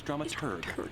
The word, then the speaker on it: dramaturg: The correct pronunciation is dramaturg, the researcher of the plays and There operas was, being but yeah, performed.